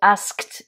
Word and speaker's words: asked: avant à l'école donc asked ici c'est le verbe to ask demander conjugué au prétérite il est régulier donc à l'écrire on met juste Ed et ce d on va le prononcer t hein je vous renvoie